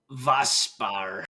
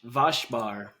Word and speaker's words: Waschbär: Waschbär. It's Vaspar? Waschbär, Mm, which literally translates to wash bear.